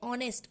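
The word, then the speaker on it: honest: ऑनेस्ट woman तो देखिए ऑनेस्ट ऑनेस्ट का एच यहां पे साइलेंट है ओ का प्रोनंसिएशन आ रहा है जो कि एक वावल साउंड है तो यहां पे एन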